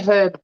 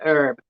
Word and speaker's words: herb: Yeah, we say herb properly. I don't like the way Americans say herb. Put the H back.